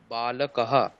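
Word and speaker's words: বালকাঃ: আছে ওটাই এত বালকৌ এতে বালকহ উচ্চারণটা ঠিকঠাক তো হলো না এক বসন বহুবচন তো একই রকম শুনিয়ে দিল কিন্তু আমাকে তো আলাদা শোনাতে হবে এশাহ বালকাহ এত বালকৌ গুড এতে বালকাহা কয় আকার আছে না দীর্ঘ আছে উচ্চারণ করুন দীর্ঘ উচ্চারণ করুন বালকাহা ব্যাস এটাই আর কিছু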